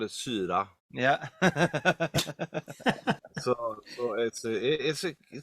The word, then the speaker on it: CYHRA: Okay, I will assume that you think that it's Kyra. I was wondering if it was Syra, actually. It is Syra, Right, but okay.